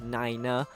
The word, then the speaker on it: nine: And instead of 9, we say niner.